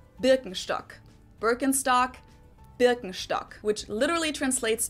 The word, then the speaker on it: Birkenstock: the world nowadays and it's natural that people pronounce it with their native accent so English speakers usually say burkenstock in German we say Birkenstock Birkenstock Birkenstock which literally translates to Birch stick